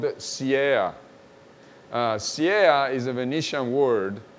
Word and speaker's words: siea: The discs are called siea.